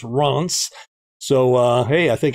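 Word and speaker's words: Reims: looked up the pronunciation i thought it was rhymes or rims but it's ronce so uh hey i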